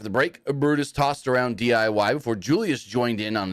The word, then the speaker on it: DIY: say their name right DIY not DYI anyways not much happens